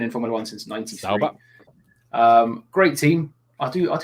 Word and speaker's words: Sauber: 3 years before this happens, though, we have got Alfa Romeo and Sauber partnership set to end.